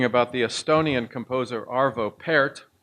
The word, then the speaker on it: Pärt: I was recently reading about the Estonian composer Arvo Pärt, and it's spelled P-A umlaut R-T. So it looks like part with something German attached to it. Pärt turns 80 this year,